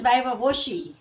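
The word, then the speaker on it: viva voce: It's pronounced as वाइवा वोची.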